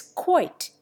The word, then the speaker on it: quoit: Yet again, there is quoit. Originally, the English pronounced it quate, but now they pronounce the diphthong as in doily. In the United States, the quate pronunciation remains.